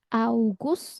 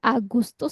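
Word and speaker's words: August: ya Yuni Yuli ya augus ya jadi enggak Agustus kalau kita kan G dulu ya Agustus Tapi kalau ini u dulu augus ya kemudian jadi kayak adanya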